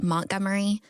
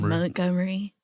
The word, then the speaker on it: Montgomery: Which I'm trying to pronounce it correctly because it's spelled Montgomery, but everybody there says Mont. So I got to say Montgomery. They say Gummery or Gummery? Let me see. Montgomery. Gummery. Yeah. But I used to be like Montgomery, and everybody's like, "Don't say it like that."